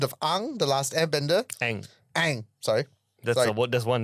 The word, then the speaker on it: Aang: Aang, sorry. That's one name I can pronounce.